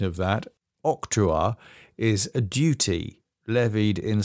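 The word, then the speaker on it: octroi: one that's a Google guy telling me the pronunciation of that octuar is a duty levied in some countries on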